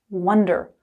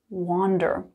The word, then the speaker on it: wonder: But first things first, the pronunciation, one, wonder, like the number 1. Wonder, wonder, not wander.